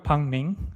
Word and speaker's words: Pang Ming: Uh, most people here call me Pang Ming. Okay. But I know that a lot of guys from the US have a bit of trouble pronouncing Pang. So, Pang's fine as well.